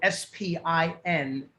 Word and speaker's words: spINFLUENCEit: So all social media is spINFLUENCEit, and that is spelled SPINFLUENCEIT. I know it's a little bit of a breath, but it's basically the word influence, spin in the beginning, and IT on the end.